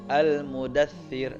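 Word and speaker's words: المدثر: Al-mudathtsiru, kita baca al-mudaththir di surah Mudaththir. Ya ayyuhal mudaththir. Gak boleh begini. Ya ayyuhal mudaththir. Nah, gak boleh. Tapi harus tipis.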